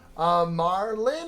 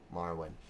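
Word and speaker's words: Marwyn: Marlin or Marwin? Marwin. And it's spelled like this. I think it's on the map how it's spelled. M-A-R-W-Y-N. Marwin.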